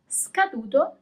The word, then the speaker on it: scaduto: As usual, you always pronounce all the letters. Scarpe. Scaduto, expired. Scaduto.